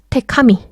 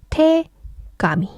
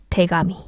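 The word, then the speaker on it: 手紙: 테카미. 태카미. 발음이 쉽지가 않죠. 그래서 합쳐질 때는 태가미. 그래서 태가미.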